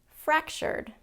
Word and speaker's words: fractured: development second syllable stress fractured fractured first syllable stress on that it's not